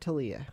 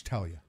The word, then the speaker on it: Talia: It's Talia, right? Not Talia. Yeah, it's Talia.